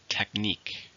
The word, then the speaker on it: technique: it's a noun countable how many syllables are in technique 2 it's just in a second technique Yoga is a very